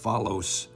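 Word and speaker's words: φαῦλος: I believe it might be pronounced phalos, and it refers to something that's worthless or inferior in quality.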